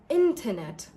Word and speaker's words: internet: Now, in British accent, the T is pronounced and in British accent, we pronounce this as internet. Internet. So, the T is a very soft sound.